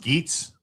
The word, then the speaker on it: Geets: It's pronounced Geets. That's how you pronounce your name, not Gary Goose, Gary Geets.